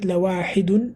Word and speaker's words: لواحد: Actually, you should be saying lawahidun, to be honest. But ذكرى. he's saying lawahid as well because it's the last word in the ayah.